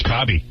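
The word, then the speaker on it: Cobbie: I went to grammar school with a guy named Kobe, but it was spelled C-O-B-B-I-E. That's Kobe. Really? No, it was Kobe. That's how he pronounced it.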